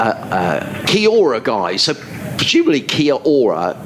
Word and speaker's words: kia ora: in touch uh uh kiora guy so presumably kia ora k-i-a-o-r-a is some sort of a greeting in in